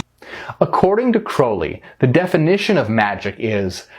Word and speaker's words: Crowley: Stage Magic and yeah it actually is pronounced Crowley you can remember it by this little rhyme those who treat me fouly call me Crowley those who know I'm